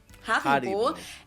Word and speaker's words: Haribo: We pronounce it Hari. Haribo.